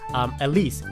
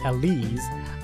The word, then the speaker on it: Elise: Last episode, I added Elise. She corrected me in the comments. The pronunciation of her name is Elise with a Z, because it's short for Elizabeth.